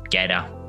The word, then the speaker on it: Gade: German Open, and Peter Gade, or Gader, depending on where you're from, how you say it, in 2009 at the Singapore Open.